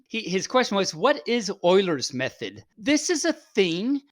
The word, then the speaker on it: Euler: spelled Euler's, It is. but it's pronounced totally Euler's. When Yes. I first, probably lots of people are like this, but when I first did, I said Euler all the time, and then someone finally corrected me, and said it's Euler, and it's like, no, what?